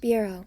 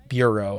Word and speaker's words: bureau: Bureau. Bureau. And go. Yes, that's how you spell bureau with a U for Euro.